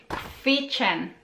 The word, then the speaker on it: kwiecień: April, kwiecień, kwiecień, kwiecień. So K, W, emphasize the letter while reading the word.